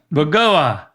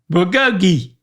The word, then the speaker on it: bulgogi: Bulgo guh Bulgoga.